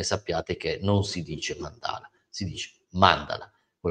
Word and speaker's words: mandala: per chi fosse interessato la corretta pronuncia è Mandala e non Mandala come dicono quasi tutti lo so che è